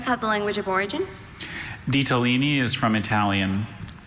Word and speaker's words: ditalini: Ditalini is from Italian. Ditalini. Ditalini. And are there any alternate pronunciations? Just the one, ditalini.